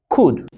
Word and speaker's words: could: produced word shot ooh then we've got the modern day verb could would and should okay even though we've got all you in the middle so it's not going to produce any long sun it's going to produce a short sound could would and should